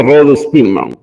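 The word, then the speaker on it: Rho Spearman: Se escribe con R minúscula H-O, y se escribe, ¿no? Como Spearman, y se pronuncia Rho-Spearman.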